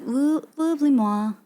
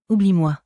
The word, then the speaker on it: oublie-moi: Oublie-moi. Oublie-moi? Oublie-moi. Oublie-moi. Oublie-moi. I don't hear L there. Oublie-moi. Oublie-moi? Oublie-moi. It's like oublie-moi?